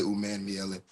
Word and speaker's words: Umanmielen: People pronounce the A in there differently. Some people say Umanmielen, some people say Umanmielen.